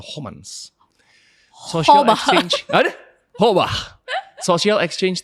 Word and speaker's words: Homans: Homans bacanya tu Homans Social Exchange ada hobah exchange theory George Se Homans.